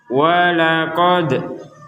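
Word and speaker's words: وَلَقَدْ: kita sudah menjelaskan bahwa huruf dal ini harus kita pantulkan. Jadi untuk membacanya harus ada pantulan. Contoh, walaqad, qad. Jadi huruf dalnya dipantulkan. Walaqad, seperti itu.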